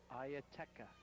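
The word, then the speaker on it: Ietara: Ieteka. Just like it's spelled.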